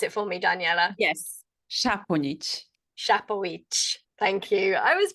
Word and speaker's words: Saponjic: Can you pronounce it for me, Danijela? Yes, Saponjic.